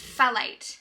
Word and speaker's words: phthalate: What does PHTH sound like? I think it's phthalate.